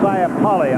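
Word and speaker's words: Saipale: I pronounce this correctly, S-A-I-P-A-L-E, Siapali, I believe.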